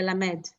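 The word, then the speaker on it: למד: More, it's less, it's not as long of an eh. It's a kind of like a short like le, la, med, you know.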